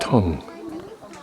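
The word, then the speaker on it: cun: Notice the C-U-N is pronounced tongue.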